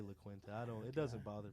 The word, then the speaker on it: La Quinta: And you already know that I work at the La Quinta. Is that how you pronounce it?